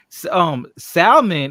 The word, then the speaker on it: salmon: So she said salmon, and she's like, the L is silent.